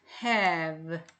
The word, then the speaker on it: have: 에에다가 히읗을 넣으니까 have 마지막에 있는 이는 소리 안 났습니다.